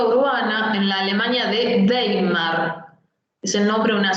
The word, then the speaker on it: Weimar: En la política urbana, en la Alemania de Weimar, es el nombre de una ciudad importante después de Berlín, se la pronuncia como B corta siempre que veamos una W en alemán. Weimar.